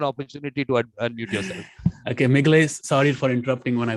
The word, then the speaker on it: Migle: And is it Migle, M-I-G-L-E?